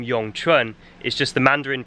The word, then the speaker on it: Yong Chun: her newly created art the name yong trun means eternal spring and in the local dialect of hokkien would be pronounced or in cantonese would be wengchan if you think that